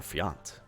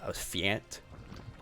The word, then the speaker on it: Fjant: Give it up for Fjant. I do hope I'm saying Fjant's name right. I know I've butchered it in the past, and I am terrible at learning names.